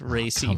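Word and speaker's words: Rhea Seehorn: Yeah, but she pronounces it Ray. It's Ray Seahorn, on.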